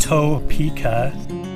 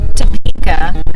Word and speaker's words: Topeka: south down it 6,000 toe pika six hours yet no it's Topeka he likes to pronounce it like he's like when we went to Tokyo pika so we stayed in